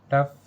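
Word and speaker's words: tough: इन words में ओ यू के बाद वर्ड के लास्ट में जी एच आया है और हमने यहाँ पर जी एच का उच्चारण किया है। लेकिन जी एच का जो उच्चारण किया है वो फा लेटर से किया है।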